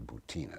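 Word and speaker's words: Butina: this young russian woman marina bhutana sometimes pronounced terra boutina but it's bhutan a b-u-t-i-n has been sitting in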